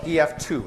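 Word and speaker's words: EF-Tu: tu we call it ef2 is what we call it although I emphasize it's it's Tu is the way that it's spelled okay ef2 all right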